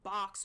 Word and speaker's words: balks: He box or stalls, whatever you want to say it. Box as in BALKS. I think that would be how it's spelled, like to balk.